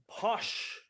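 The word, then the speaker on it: pox: of course alcohol um posh p-o-x pronounced posh sometimes spelled p-o-s-h is basically moonshine um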